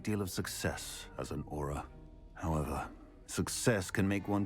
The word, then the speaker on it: Auror: badge on your desk Aura okay that's that's how you pronounce it not Aurora an aura I suppose